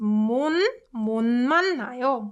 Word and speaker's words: 못 만나요: So it's pronounced 못 만나요, 못 만나요.